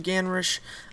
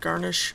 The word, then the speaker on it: Ganrish: captured by Lord garnish his name is actually ganish but that's way too close to the word garnish so I keep thinking